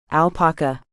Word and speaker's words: alpaca: has recovered Tomas Shrugged he is an alpaca he stressed the first syllable alpaka so horrible about Stanley